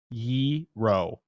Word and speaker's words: gyro: say wrong again yeah Yi like easy Ramiro gyro okay gyro not not you're all like the money gyro like gyro Yi ro gyro well how you spell